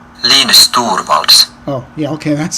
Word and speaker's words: Linus Torvalds: Oh, here's the pronunciation. Linus Torvalds.